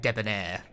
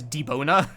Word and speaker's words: debonair: Suave and debonair. That's not how debonair is spelled. The way you wrote that, I like nearly said it as deboner. Which is absolutely not what that is.